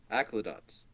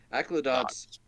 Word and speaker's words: Aclazotz: Aclazotz. Aclazotz. Aclazotz. There's a Z in there. It's right there. Aclazotz. Yeah, you say it the way it looks like.